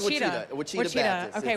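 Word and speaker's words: Ouachita: Okay, word on the street is it's Wichita. It's not said the way it's spelled. It's one of those where it's like. I know what Wichita looks like it's spelled like.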